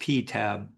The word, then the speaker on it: PTAB: This is its nickname is pronounced PTAB and This is a very very interesting um source of information.